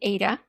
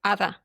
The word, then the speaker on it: Ada: Hi, Ada. Am I saying it right? It's Ada? Okay, so the English speakers call me Ada, Okay. and I'm from Latin descent. So, but my name is Ada.